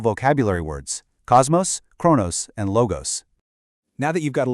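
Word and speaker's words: λόγος: First part, lo. Second part, gos. Together, logos.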